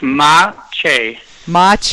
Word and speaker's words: Maciej: already am please tell me how to correctly pronounce your name so I can get it right every time it's ma ma thank you I almost had it right I